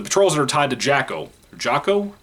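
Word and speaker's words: Jaco: The patrols that are tied to Jacko. Jocko? I think it's Jocko is how you say his name.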